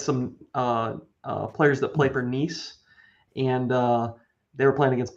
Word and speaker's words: Nice: Shout out to you for knowing it's Nice. Yeah, it's like the one Way to thing be. I've ever pronounced correctly ever.